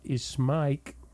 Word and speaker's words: Ismaik: An author, Hassan Abdullah Ismaik, am I pronouncing his name correctly?